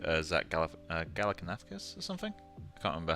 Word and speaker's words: Galifianakis: Also, this is looking like Zach Galifianakis or something. I can't remember how you pronounce his second name.